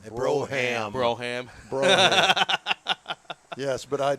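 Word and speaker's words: Brougham: an 86 cutlass supreme brome white with red plush velvety you really need to learn how to pronounce it it's called a broham broham bro yes but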